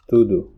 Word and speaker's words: tudo: But the word tudo, which you would expect it to be tudo, actually becomes tudo. So O here changes to U.